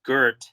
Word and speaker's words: Goethe: Like, So I think the poet, it's a German poet she's translating named, I think it's pronounced Goethe.